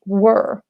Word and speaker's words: were: What is the difference between where, for example, where do you live, dove, and the verb be, which is pronounced were?